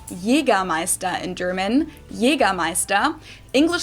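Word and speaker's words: Jägermeister: the way from shoes to alcohol this is pronounced yea MAA in German yea MAA English speakers usually say a Jagermeister which is pretty much the same just with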